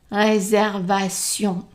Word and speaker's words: réservation: E is silent, réservation, T-I-O-N at the end is sion, réservation, pour, deux, and the X is silent, so deux personnes, ES at the end, silent.